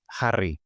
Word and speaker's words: Harry: El nom anglès, Harry, quan ho pronunciem en català, ho diem més o menys així, Harry.